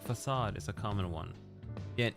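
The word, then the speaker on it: façade: Is it facade? Facade? But no, it's facade because it's a fucking French word. Is it? It's a French word, right?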